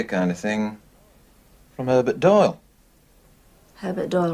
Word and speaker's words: Doyle: Doyle. Doyle. Rhymes with Boyle.